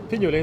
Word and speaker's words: Pignolet: How do we pronounce his name? Pignolet? Pignolet, that works, yeah.